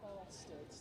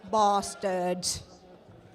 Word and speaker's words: Bstrds: Ah, The B team name, they're called Bstrds. That's how you pronounce it. Thank you. We were informed that is Bstrds.